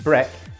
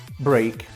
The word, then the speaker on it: break: Brett doesn't exist great people think the pronunciation of break is Brett because of breakfast no it's wrong break what's the difference between